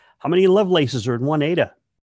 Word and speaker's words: Ada: 181 million Lovelace no pet peeve of mine ADA is pronounced ADA when I hear people say ata I just kind of go who because it's